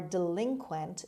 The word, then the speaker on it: delinquent: four delinquent delinquent delinquent the stress is on the second syllable on l delinquent means an offender criminal